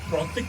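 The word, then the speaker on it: প্রতীক: और वीर प्रौतिक लिखा है, प्रतीक होगा, लेकिन ये बंगाली में शायद उसको इस हिसाब से प्रोनाउंस करते हैं।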